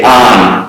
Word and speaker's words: on: When I say on, it's not A-N, it's O-N.